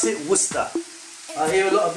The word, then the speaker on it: Worcester: You pronounce it Worcester.